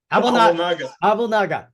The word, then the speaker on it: Abouelnaga: Abouelnaga.